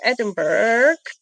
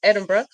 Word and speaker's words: Edinburgh: In addition to Edinburg, Edinburg. Edinburgh.